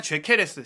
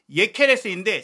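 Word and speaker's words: Gyökeres: 헝가리 계열의 선수다 보니까 이 이름 발음이 헝가리식으로 읽으면 죄케레스, 실제로 이제 스웨덴식으로 읽어도 예케레스인데 지금 많은 팬들에게 요케레스로 알려져 있기 때문에 저희도 혼선을 드리지 않고자 우선은 요케레스라고 얘기를 드리고 있는데요.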